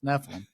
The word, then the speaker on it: Nephilim: So Stephen's like, I think it's Nephilim, and I looked it up, and it's Nephilim.